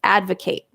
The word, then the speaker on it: advocate: used as a noun when it's used as a verb the spelling is the same but it has a different pronunciation advocate so a devil's advocate